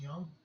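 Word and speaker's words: Jung: fact occurrence um carl young he was an associate of friends it's spelled j-u-j-u-n-g but it's pronounced young uh once said that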